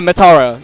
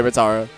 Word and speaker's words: Metara: And Madata, is that how you say it? Yeah, Matara. You can just say Matara.